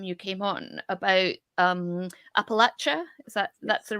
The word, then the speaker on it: Appalachia: talked last time you came on about um Appalachia is that that's the right way to say